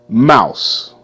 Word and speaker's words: mouse: Mouse. M. Mouse. Mouse. E is silent. E makes no sound.